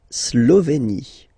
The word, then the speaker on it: Slovénie: mal mal mal la Slovénie e accent aigu here e et slovéie final e as us not pronounc la Slovénie ok la hungrie h doce